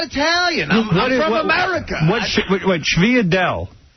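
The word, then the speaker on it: sfogliatelle: What Sviadel? Sfogliarelle. Yeah, that's what it is. Yeah. Sfogliarelle. Sviadel. All right, how do you pronounce Manicotti?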